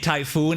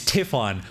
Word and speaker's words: Tiffan: I've been saying Typhoon. It's Tiffan.